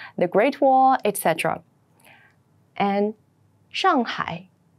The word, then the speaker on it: Shanghai: the Summer Palace the Great Wall Etc and Shanghai shangai Shanghai Shanghai has a population of 26 million